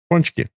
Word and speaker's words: pączki: pole skis like the p p skis punch Punchy Punchy Punchy say Punchy with us everybody it